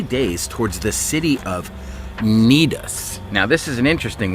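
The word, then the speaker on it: Cnidus: towards the city of nedus now this is an interesting one because it starts with a c but that c is silent it's more like in the brackets on the bottom neatest all right so they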